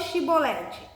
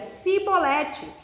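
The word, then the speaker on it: Chibolete: E dizendo ele: não, então lhe diziam: dize, pois, Shibolete. Porém ele dizia Sibolete, porque não o podia pronunciar bem.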